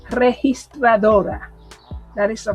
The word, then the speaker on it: registradora: The only reason why I sound like that is because I genuinely find it difficult to say registradora. That is the right pronunciation right there.